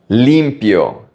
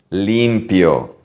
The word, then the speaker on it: limpio: Limpio. Pay attention to the pronunciation of the I. It's a long E. Limpio.